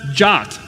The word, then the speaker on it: JWT: everybody else okay so JSON web tokens they're pronounced jot I don't know why JWT does not spell jot to me but maybe I'm not a security spec crater yet maybe one day I can make these cool things I guess the domain JWT was taken or something anyway so Jacque that's that's the way it's pronounced it's a fancy JSON